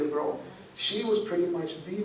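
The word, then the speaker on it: Breaux: Her last name is spelled B-R-E-A-U-X, Zelia Bro.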